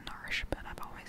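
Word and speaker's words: Narshe: down our sheet worthy the proper way to say it is Marsh but I've always said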